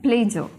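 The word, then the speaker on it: pleasure: र हम प्रोनाउंस करते नहीं होते लास्ट में, तो अ तक ला के छोड़ देते हैं, प्लेजर।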